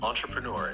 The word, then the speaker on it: entrepreneur: can pronounce it sure entrepreneur is pronounced as entrepreneur let's break it down on like an on true rhymes with du Pro like the beginning of pronounce Nur rhymes with blur put it together on true true door three fluency practice practice